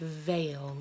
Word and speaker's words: veil: hear in the words veil whoo heyo so yeah I this is a tricky one but I can say a like veil so when I see